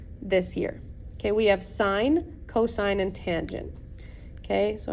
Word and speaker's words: sine: change this to sine not to be confused with sin it is pronounced sine okay so it's asking